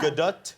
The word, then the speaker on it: Gadot: Gadot. More T at the end. Yeah. Gadot?